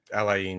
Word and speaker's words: Al Ain: but they put up 6 against, is it Al Ain? Is that how you say it? Al Ain, yeah.